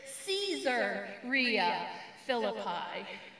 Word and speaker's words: Caesarea Philippi: to the city of caesarea philippi when i pronounce it that way it may not seem to have much significance but what if i pronounced it caesar rhea philippi a couple of centuries